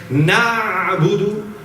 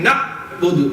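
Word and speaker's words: نَعْبُدُ: So instead of saying Na'budu, they say Na'budu, Na'budu. That means it's become a Hamza, okay?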